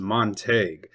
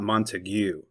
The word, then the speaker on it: Montague: Therefore, we can conclude that the correct Texas pronunciation is Monte, not Monteue.